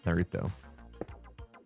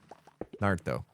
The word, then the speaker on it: Naruto: Try not to put emphasis on the Ru. Naruto. Can't do it. Can't do it. Naruto. Nailed it. Oh, don't do it with a fancy sound. Naruto.